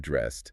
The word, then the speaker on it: dressed: Notice the end of dressed sounds like a T.